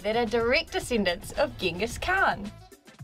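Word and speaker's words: Genghis: are direct descendants of gingas Khan I actually heard that you pronounce his name jingus oh good but I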